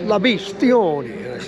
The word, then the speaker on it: La Bestione: He comes back and says, La Bestione. I spell it.